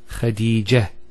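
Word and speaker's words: خديجة: I actually pronounced the ta marbota as a ha. Medina, Khadija. Now if I stop on the ta marbota, it's actually pronounced as a ha in both cases.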